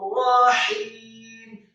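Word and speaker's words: رحيم: Maka cara membacanya Rabbana innaka ra'ufur rahim. Kata rahim, ra-nya satu harokat tebal atau khim, kemudian ha-nya tipis dua harokat karena setelahnya ada ya sukun, dan kemudian huruf mimnya dibaca sukun.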